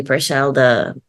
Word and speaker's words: Purcell: Okay, Purcell, okay. Like Henry Purcell, well, that's like Baroque music or something.